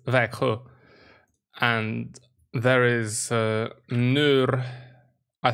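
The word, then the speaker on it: Växjö: how you pronounce it it's not vaxio it's veku and there is uh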